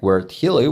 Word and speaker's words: χίλιοι: Este prefijo deriva de la palabra griega "χίλιοι" (se pronuncia gílii) que significa "mil".